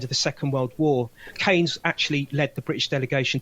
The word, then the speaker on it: Keynes: It looks like it's Keynes, but you pronounce his name Keynes.